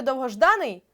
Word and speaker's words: довгожданий: слух визначити складно наприклад у слові довгожданий наголос падає на а і дуже хочеться за